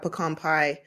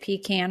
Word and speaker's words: pecan: My family in northern Pennsylvania does not have pecan pie at their Thanksgiving. Wait, is it pecan or pecan? It's pecan. I say pecan. You say it wrong.